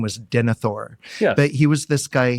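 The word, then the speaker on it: Denethor: And so what is important about that is do I have this guy's name right? Denithor. Denithor is correct.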